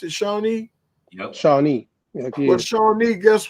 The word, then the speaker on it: Shawnee: There was a tribe called the Shawnee tribe, right? Yeah. Is that how you pronounce it? Shawnee?